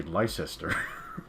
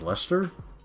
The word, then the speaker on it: Leicester: So an American would say Leicester, but I think it's just pronounced Leicester.